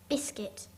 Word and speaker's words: biscuit: Biscuit. Biswitt.